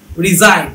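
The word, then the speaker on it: resign: রিজাইন, চাকরি থেকে অব্যাহতি নেয়। আর ই এস আই জি এন, এটা রিজাইন, আর ই এস আই এন এর মতো, জি এর কোনো ভূমিকা নাই।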